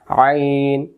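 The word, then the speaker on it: عين: উচ্চারণ গলা চাপ হবে শুধু হামজা হলকের প্রথম থেকে আর আইন অক্ষর হলকের মধ্য থেকে তাহলে আইনজ আইন জবার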